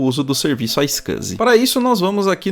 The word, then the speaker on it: iSCSI: aqui a opção icec a pronúncia é icus tá legal iscsi como